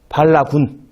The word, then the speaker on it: 발라군: 발라군. 발음이 좀 그러네요. 반란군도 아니고 발라군입니다.